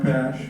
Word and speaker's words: Pash: I'm Pash, PASH. Rhymes with cash, is the speed.